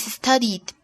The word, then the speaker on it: studied: Así que en el pasado pronunciamos la terminación ed como d, d, d. Okay, so the past tense of study is studied.